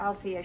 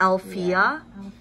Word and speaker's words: Althea: Althea. Yeah. Althea.